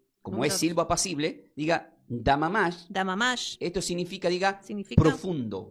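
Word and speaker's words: דְּמָמָה: Ahora, número dos, como es silvo apacible, diga damamash.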